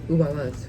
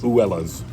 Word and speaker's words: Abuela: So the B is kind of like a W sound in Spanish, right?